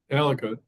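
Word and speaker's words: Aleqa: where I knew we saying it wrong Al alaka um she is the past prime minister of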